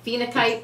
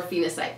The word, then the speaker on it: phenakite: The Reiki in this video carries the energy of Phenakite or Phenacite, whichever way you want to pronounce it.